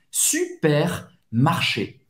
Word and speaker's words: supermarché: Então, supermercado, super, você vai pronunciar esse R, supermarché.